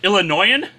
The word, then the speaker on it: Illinois: but even then like Illinois is not pronounced with the S the S is silent so what Illinoisan whatever you're ill annoying